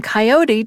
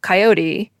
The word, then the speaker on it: coyote: But about halfway through the podcast, I noticed that people were pronouncing coyote two different ways: the 3-syllable coyote and the 2-syllable coyote.